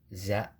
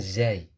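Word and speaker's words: زاي: kho dal dzal ro Za bukan Zai Za karena nanti untuk pengucapan-pengucapan yang berikutnya akan lebih mudah ya short box karena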